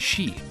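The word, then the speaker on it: 四: The number 4 is considered unlucky in Japan, as it can be pronounced she, which is very similar to the Japanese word for death.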